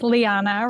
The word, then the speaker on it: Lanna: go hey no worries Lanna rhymes with Rihanna and um I'm also